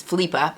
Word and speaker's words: Philippa: and her middle daughter the middle daughter is felipa and this is how she spells it so but that's the danish pronunciation so i don't know